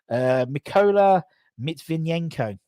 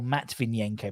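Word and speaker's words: Mykola Matviyenko: Mykola Mitvinenko. Or Matvinenko, probably.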